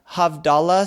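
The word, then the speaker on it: Havdalah: talks about the and forgive me if I pronounced this wrong the havdala service that's right yes now you pronounce exactly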